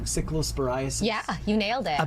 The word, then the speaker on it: cyclosporiasis: I always get the name wrong. Cyclosporiasis.